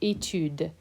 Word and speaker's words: étude: Watch out for the pronunciation of étude. Étude doesn't have an S here, and it doesn't have an I after the D. Étude, les études.